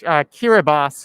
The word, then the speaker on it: Kiribati: Let's try typing into the map, into the search, Kiribati, which is spelled Kiribati.